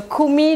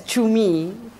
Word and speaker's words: kumi: So kumi, do you spell it K-U-M-I, which would be so easy and so easy to see, but then we have an alternative C-U-M-I, which could be read as chumi, right?